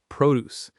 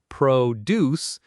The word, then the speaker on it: produce: Remember that word, produce. We pronounce it with the stress on the first part, produce, when we talk about fruits and vegetables in a store.